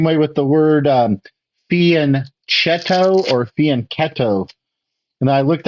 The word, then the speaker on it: fianchetto: Italian speaker and um there's no that CH sound sounds like a c c sound in Italian so uh it's not fianchetto it's actually faneto so you know small